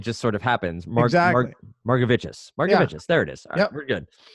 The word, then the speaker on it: Margevicius: I'm gonna forget how to pronounce his name. It's gonna haunt me. Margevicius. There you go. There you go. Margevicius.